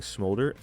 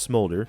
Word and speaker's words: Smolder: in my time playing scholder I know it's not pronounced scholder I just like saying that I'm not going to apologize but I do understand it's pronounced smolder like smoldering rocks and stuff I didn't really even